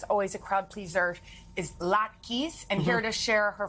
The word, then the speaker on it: latkes: One holiday dish that is always a crowd pleaser is latkes, and here to share her family recipe.